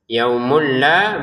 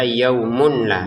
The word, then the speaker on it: yaumul la: Nah yaumulla baru dengan dengan tanpa dengung. Yaumulla. Jadi jangan dibaca yaumun la. Jadi kita masukkan tanwinnya ke lam terbacanya yaumul la. Bukan yaumun lagi. Tapi yaumul la.